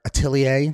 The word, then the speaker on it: Atelier: And yeah, so check out all the stuff in our description about Lauren Fair Atelier. Did I pronounce that right? You did. It's French.